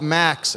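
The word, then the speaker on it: MAXC: pdp-10 which we called max ma XC the C is silent which was a joke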